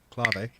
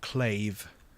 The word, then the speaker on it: clav: nice CLA away clav or clave if you want to say it wrong for fun um does that work